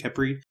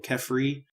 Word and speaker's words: Khepri: He has a couple of different transliterated pronunciations depending on which of the 2 languages from Egypt or surrounding languages his name is written in. They're still all pretty much pronounced Khepri or Khepri.